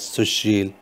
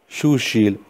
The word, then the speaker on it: Sushil: HF, in noisy environment, even I am pronouncing right my name as Sushil, but there are plenty of chances that other person will listen as Sushil or Shushil or Shushil or lot of mistakes possible.